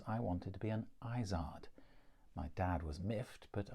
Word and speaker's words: Izzard: Mummy, later Mum, Muv, and finally Mama, was born in Northampton, Joan Kathleen Izzard. And yes, her family did pronounce their surname that way.